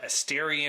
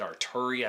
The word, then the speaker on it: Asteri: there is more uh asteria involvement and i said that wrong in my last video i said arturi i don't know where